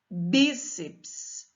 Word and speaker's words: bíceps: 1 o bíceps paroxítona cuidado com esta palavra o ps não pode ser uma sílaba sozinha eu já vi aluno classificando isso como proparoxítona a separação silábica dessa palavra fica bíceps então é uma palavra paroxítona terminada em ps próton paroxítona terminada em